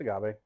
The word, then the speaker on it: agave: I'm getting the agave. Is that how it's pronounced? It's just agave.